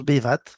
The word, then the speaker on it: Bevato: Alors ça s'écrit Bevato, ça se prononce BVAT.